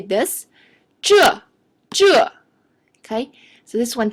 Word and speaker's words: 这: So spell like Z-H-E. Okay, Z-H-E, 这.